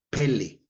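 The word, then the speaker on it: פלא: palabra h63 82 que se le pele así como pelee el futbolista pero no es pele con acento en la primera e que quiere decir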